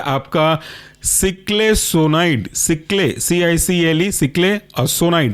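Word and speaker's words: ciclesonide: Last example है आपका सिक्लेसोनाइड, सिक्ले CICLE सिक्ले और सोनाइड पहले के जैसा ही है SONIDE।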